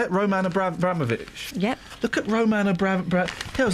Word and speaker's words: Abramovich: Roman Abraovic.